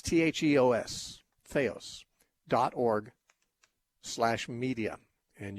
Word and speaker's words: theos: our website and listen to those things theos is spelled t-h-e like the it's t-h-e-o-s feos dot org slash media and you can get